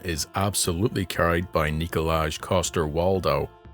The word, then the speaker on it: Coster-Waldau: absolutely carried by nicolaj Coster walow which I was pronouncing Walter Calo before I looked at my notes The Game of Thrones